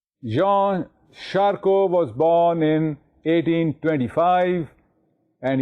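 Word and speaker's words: Jean Charcot: a r c o the T at the end is silent Jean sharco was born in 1825 and he died in 1893 Jean sharo had used hypnotism in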